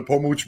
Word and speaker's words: Pomuch: P-O-M-U-C-H. So P-O-M-U-C-H. Look it up on like YouTube. P-O-M-U-C, like much, but they pronounce it Pomuch.